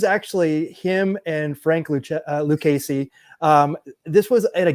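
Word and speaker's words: Lucchesi: It says Luchessie, but I think it's it's Lucasy, I think, is that's that's how you pronounce that. Lucasey.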